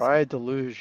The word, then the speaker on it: Praia da Luz: It's Pride Deluge? Is that how I pronounce it? Praia de Luz, yeah. Pride Deluge.